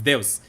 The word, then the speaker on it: Deus: It's not Deuce, it's Deus to come back.